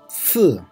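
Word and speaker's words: 四: Then si, si, si is fourth tone. So we need to pronounce like si, si.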